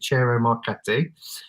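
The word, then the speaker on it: Ciro Marchetti: tarot deck by Cero, I always get his name wrong, Cero Marchetti, that's how you say it, Cero Marchetti, is being re-released on the 1st of May, which is Friday, isn't it?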